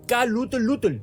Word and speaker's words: Cthulhu: bien K lutel lutel lovecraft lo pronunciaba como K lut lutel no pero qué está